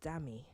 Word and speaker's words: Dami: dami rarely ever Lola it's four letters and two syllables long no you can't call me Olivia I'm not impartial to teaching you how to sing me du as in daddy me as in me a pair that only